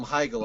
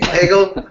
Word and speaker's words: Hegel: not gonna call him higel are you you're you're not gonna mispronounce the guy's name Hegel okay because there probably